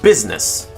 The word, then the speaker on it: business: The letter I doesn't do a blessed thing in the word business, except to be impersonated by the letter U in the first syllable.